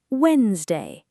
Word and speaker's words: Wednesday: Oh, I always try to say Wednesday. Yes, but in real English, the D and E in the middle are silent. It sounds like Wednesday. Wednesday. Perfect. Just two parts.